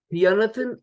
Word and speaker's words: Fionnathan: Fionnathan is spelled Fionnathan. So that's a mixture of Fionn with 2 N's and Jonathan. And I only worked out recently that they went to Fionnathan, like Jonathan.